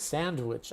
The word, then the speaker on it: sandwich: So, yes, the D is actually removed. We don't pronounce the D. That's a good sandwich.